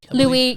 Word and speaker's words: Louis: deer it's actually pronounced louis yeah so this is looks like it looks like lewis when you read it but for some reason it's pronounced louie louie's a deer but